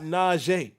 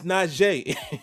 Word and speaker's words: Najee: He was like, it's not Najee. It's Najee. He said, my name is spelled Najee. 2 E's together is E.